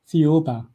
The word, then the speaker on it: Thiaoouba: Now, there's a prophecy that you want to talk about, and I cannot figure out how to pronounce it. So Thiaoouba. I'm sorry? Thiaoouba.